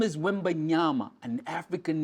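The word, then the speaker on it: Wembanyama: Wy Wy Victor wmi that boy's name is wimba nyama it's an African name understand it pronounce it right and realize he comes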